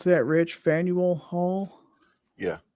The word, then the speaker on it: Faneuil Hall: Public meetings at, how you pronounce that, Rich? Faneuil Hall? Yeah, Faneuil Hall.